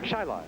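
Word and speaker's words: Chili: Chile C hi i l i but it's pronounced chai Cel Churchill chai All County basketball player as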